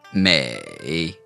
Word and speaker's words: 美: This character here means beautiful, and it's pronounced may. Say that with us. May.